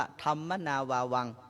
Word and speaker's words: ธัมมนาวัง: แผ่น นี้ สี เหลือง ที่ เขียน ว่า ธรนาวัง หรือ อ่าน ว่า ธัมมนาวัง แล้ว ก็ เขียน หลัก